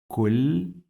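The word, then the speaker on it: كل: And then we have two lambs because we have shadda. The first one is with sukoon, and the second one, it will be with kasra. So our syllables are like this. Kulli.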